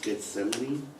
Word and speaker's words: Gethsemane: the a um and the first name is Gethsemane okay it's biblical oh okay g e t